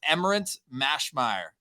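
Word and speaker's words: Emmerance Maschmeyer: before because I'm probably going to butcher the pronunciation of her name, and I don't want to do that. No, it's Emmerance Mashmeyer. I think there we go. Go to Emmerance Mashmeyer.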